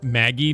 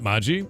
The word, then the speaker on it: Magi: You say Maggie, not Maji. Let's see what it is. How do you pronounce Magi? There are two common variations. Maji or Maggie. Both are correct.